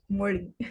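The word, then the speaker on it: Mozhi: funny watch moly and it's spelled m o z h i Mori Mor Mori yeah like Cory code yes uh man uh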